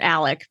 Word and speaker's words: Alex: that drives me nuts I know they pronounce it Alec but it's spelled Alex so I know I'm